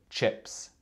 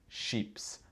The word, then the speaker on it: chips: Le mot d'aujourd'hui, c'est chips. Ce n'est pas sheeps. Parce que sheep, ça veut dire mouton en anglais.